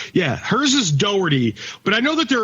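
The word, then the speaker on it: Doherty: supposed to be pronounced Dockery uh that's how that's like the Irish pronunciation her last name is spelled D o h e r t y right no man no it's like Doty that's how it's pronounced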